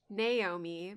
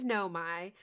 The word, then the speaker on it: Nomai: So, in our Outer Wilds episode, I said Naomi, but this was my, like, kind of dyslexic brain scrambling the letter ordering. It is Nomai, so I said it right about half the time.